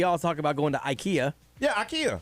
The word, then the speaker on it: IKEA: right if you go because i guess it's swedish so it's just the way they say it we just you know how we butcher everything we made at ikea but apparently we've all been saying it wrong it's ikea so you can argue